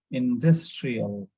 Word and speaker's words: industrial: So we need to stress on the syllable before that one. So it should be like annual, annual. Similarly, here, industrial, industrial.